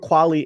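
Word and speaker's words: Qualley: her name wrong is is your last name quali or or quwali okay perfect so Margaret kwali is rumored to be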